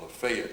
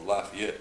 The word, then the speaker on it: Lafayette: is where little place called lafet or Lafayette depending upon how you want to pronounce it exist M and our